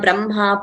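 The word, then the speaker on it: ब्रह्मा: Madhyanhaha, Brahma, Purvanhaha. We have learnt in detail. They are exceptions to the rule. So we don't pronounce as it is written. We pronounce Brahma, not Brahma.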